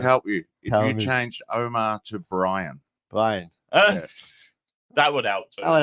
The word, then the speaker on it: Omar: my o so I I don't pronounce my name the Arab way oh really go what the dude you can't pronounce Omar it's supposed to be